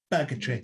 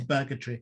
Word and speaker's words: Burgatory: Don't say it like an American. Burgatory. Say it like I do like going to Burgatory.